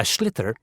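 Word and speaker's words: sliotar: And basically, you have to get this ball called a schlither. That's s L I O T A R. So, it's not spelled the way it's pronounced.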